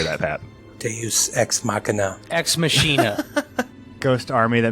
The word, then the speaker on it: Deus ex machina: Like, this is the Deus Machina. How do you say that, Pat? Deus Ex Machina.